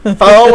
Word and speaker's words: pho: You've never had One of pho.